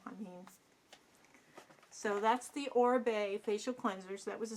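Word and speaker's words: Oribe: Second item I pulled out of the bin was Orbe, or Orib, I don't know how you want to say it, but I believe it's pronounced Orbe, and he's a hairdresser.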